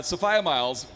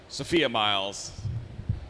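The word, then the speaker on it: Sophia Myles: sofia miles so uh sophia miles was the girl in the fireplace madame de pompadour and it was 10 years of sophia miles not sophia miles so he finally corrected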